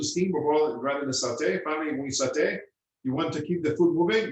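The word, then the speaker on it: sauté: got sauteing okay uh the worst satay is pronounced saute refers to the form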